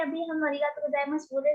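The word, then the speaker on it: ありがとうございます: तो अरिगातो गोजाइमासु लिख रहे हैं हम, क्योंकि स्पेलिंग डिमांड करती है, पर अरिगातो गोजाइमास प्रोनाउंस कर रहे हैं, जैसे ऊपर भी हम प्रोनाउंस कर रहे थे, देस, देसु नहीं, त्रिवेदी सान।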